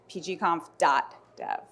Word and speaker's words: PGConf.dev: the official is that the official way to pronounce it uh it is it's pgom dodev cool well let's get into it so the